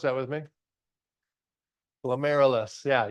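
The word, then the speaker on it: glomerulus: Glilus. Yeah, you literally just say air in the middle, right?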